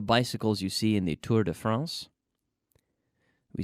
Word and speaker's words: Tour de France: We say Tour de France. We don't say Tour de Francia, as you say in Spanish. We try to pronounce it in French when we're speaking English.